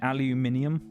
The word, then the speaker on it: aluminium: Pronounce it aluminium as you should, cuz that's the correct way to pronounce it.